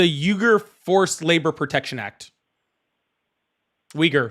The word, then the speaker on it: Uyghur: Uyghur. The Sorry. Uyghur. I always pronounce it wrong. No, Uyghur. That's fine. It's fine. I believe that's correct anyway. If not, it's really close to that.